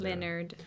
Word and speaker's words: Lynyrd: skynyrd with the Y's see how it's spelled Leonard yeah Skynyrd money yeah yeah